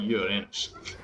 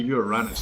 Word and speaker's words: Uranus: That was a lot of noise from the Uranus, which is how you pronounce it. It's not Uranus.